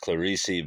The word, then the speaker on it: Clarice: We're back with Clarice, Lispector's Near to the Wild Heart. I found out from her biographer. Well, I didn't talk to him, but I watched the video. And apparently, her name's pronounced Clarice, but that's not even her real first name.